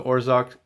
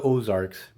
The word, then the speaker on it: Ozarks: king now kingpin of the orzak i pronounce that terribly kingpin of the ozarks he's this new character